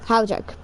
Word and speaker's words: Havlicek: Havlicek. There we go. Thank you, Kevin Harlan. Kevin Harlan, you suck. Nice shot by Kevin Havlicek. Right, Havlicek.